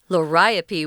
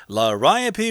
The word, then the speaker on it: Liriope: Liriope, which is kind of a weird pronunciation for that word. We know, but that's how they say it.